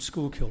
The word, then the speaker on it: Schuylkill: And we pronounce the street Schuylkill Drive.